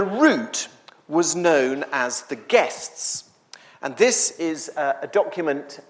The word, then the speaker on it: giests: And guests, by the way, if you are trying to write it down, is spelled G-I-E-S-T-S, which is a bit confusing.